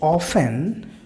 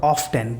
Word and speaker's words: often: It often, or often, both are correct pronunciations, it often appears at the beginning of a story or chapter.